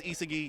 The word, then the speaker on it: Isagi: So Isagi is Isagi, you're welcome.